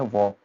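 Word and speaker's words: walk: हम जैसे कि आपके पास एग्जांपल देखिए वॉक, इसको हम वॉल्क नहीं बोलते हैं। अगर आपको नॉलेज में हो तो आप क्या बोलेंगे, वॉल्क, टल्क, इट्स हाल्फ, जबकि वो गलत है।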